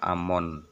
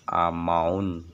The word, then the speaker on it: Amun: Amun adalah bahasa Mesir ya, bahasa Mesir yang Manu, diucapkan Amon atau Amaun, Amen, dan kadang disebut Imen. Dalam bahasa Yunani disebut Amon. Hamon adalah dewa dalam mitologi